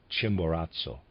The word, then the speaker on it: Chimborazo: aside I'm not sure what this word means it's spelled CH h i m b o r a zoo Chimborazo and of readers aside the soul life which